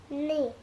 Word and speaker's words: Nice: Nice. Yeah, it's spelt like nice, but it actually is pronounced niece.